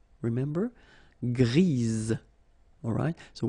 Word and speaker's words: grise: for the feminine form, grise. Remember? Grise. Alright? So when you add this E, basically it gives you the pronunciation or the possibility to pronounce the previous letter here. It's Z.